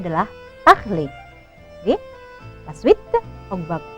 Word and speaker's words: parler: Bon, on va continuer avec parler. Ya, parler, perhatikan ini parler belakangnya er. Catatan dari ibu, ketika ada kata kerja berakhiran er, ya, maka er-nya wajib dibaca e.